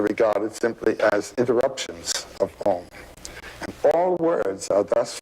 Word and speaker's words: AUM: It's written A-U-M. You start in the back of the mouth, ah, and then oo, you fill the mouth, and closes at the mouth. And when you pronounce this properly, all vowel sounds are in that pronunciation.